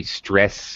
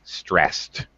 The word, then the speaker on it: stressed: It has a T sound. We don't say stressed. We don't pronounce the ED. Just pronounced as a T, stressed.